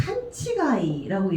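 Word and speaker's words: 勘違い: 어긋날 위자를 집어넣어서 치, 가, 이. 그러니까 칸치가이라고 얘기를 해요.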